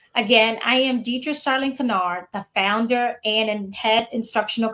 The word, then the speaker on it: Kinard: And yes, Kinard is pronounced correctly. Again, I am Deatra Straling Kinard, the founder and head instructional coach of STAR Academic Services.